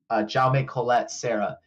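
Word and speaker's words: Jaume Collet-Serra: this director and I had to look up how to say his name and it's j Colette Sarah and he's very good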